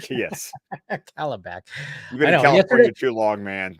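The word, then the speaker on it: Kalibak: yeah a little funky it's not it's not cie it's Calla calab cabac sorry cabac yes cabac you been too long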